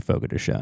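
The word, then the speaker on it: Fogo de Chão: time, and they're like, it's actually Fogo de Chao. In Brazil, like, well, I'm going to be cocky pronounced about this. Fogo de Chao. In America, it's Fogo de Chao. Well, look, buddy, this is my country, and we say it the way we want to say it.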